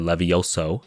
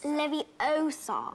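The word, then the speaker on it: Leviosa: like aresto momentum or Levi Oso you're saying it wrong it's leviar which essentially frees enemies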